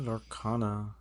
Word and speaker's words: Lorcana: Yeah, Lorcana.